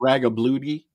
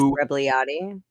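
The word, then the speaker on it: Rebagliati: Ross Ragabludi, I can't pronounce his name. Ross Rebliati.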